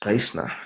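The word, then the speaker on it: Knysna: but he was from Naisna. I said to him, the name Naisna, it is a Korah name, right? It's Kaisna, right? We say Kaisna, that's why you say Yeah.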